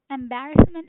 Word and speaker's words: embarrassment: Embarrassment is a noun. And in here, yes, the stress is on second syllable which is B. Embarrassment.